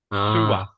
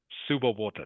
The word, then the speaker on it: sewer: So, only one mistake, Wang, and that is it's pronounced sua. Sua. Sewer. Sewer.